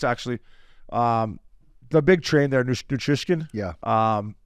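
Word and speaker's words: Nichushkin: The big train there, Nutrishkin. Yeah. Is that how you say it? Valery Nutrishkin? Natushkin.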